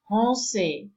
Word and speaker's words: français: And the combination of letter A with N gives you nasal. So we have français.